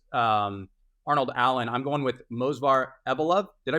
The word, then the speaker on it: Movsar Evloev: I'm going with Movsar Evloev. Did I pronounce that correctly? Movsar Evloev?